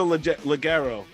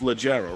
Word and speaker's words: Leggero: So we have Natasha Laguerro. Why do I keep saying her name wrong? It's Legero, right?